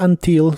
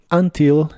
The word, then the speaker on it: until: que significa hasta ahora la u de la palabra until se pronuncia como una a until y esta palabra puede tener el acento en la primera sílaba o en la última y ambas formas son correctas Así que vas a